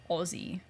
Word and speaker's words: Aussie: you'll spell it a-u-s-s-i-e you will say it like Ozzy Osbourne like yes like like